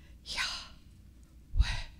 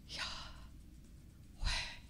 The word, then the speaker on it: Yahweh: And Rabbi Lizzie referred to this in hers, that Yahweh sounds like breathing. Yahweh. Yahweh. And if we think about it, that sound, that pronunciation, every time we breathe, every time we draw breath, we are speaking God's name.